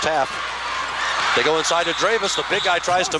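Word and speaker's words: Drewes: it on 57 percenter d-r-e-w-e-s is the spelling dravis is the pronunciation and the rebound goes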